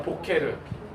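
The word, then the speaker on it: בֹּקֶר: 보케르 아시겠죠? 그래서 얘는 아까 전에 했지만 베트는 비읍 발음, 얘는 뭐예요?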